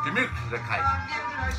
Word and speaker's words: Gemütlichkeit: Gemütlichkeit. I've only recently learned that that's kind of how you say it.